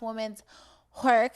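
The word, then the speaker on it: Women's Whork: follow her already it's women's work we it's pronounced women's work it was like a w-h-o-r the horror oh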